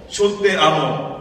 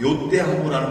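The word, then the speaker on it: yo te amo: 그래서 원래는 정확한 스페인 발음으로는 요떼하고라는 말인데 우리 아르헨티나에서는 그거를 쇼떼하고라고 합니다. 근데 그걸 우리 교인들은 발음을 잘 못해요.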